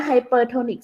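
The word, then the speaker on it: hypertonic: แรก Hyper นะ ออก เสียง ผิด Hyper นะ ไฮเปอร์โทนิก solution ไอโซทอนิก solution แล้ว ก็ ใคร โปร อ่ะ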